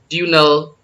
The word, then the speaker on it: diurnal: अब क्या कर सकती है, roll around the earth diurnal course, here R is not pronounced।